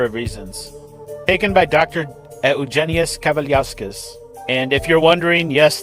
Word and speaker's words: Eugenijus Kavaliauskas: Eugenius Cavaliosquez. And if you're wondering, yes, that is the correct Lithuanian pronunciation.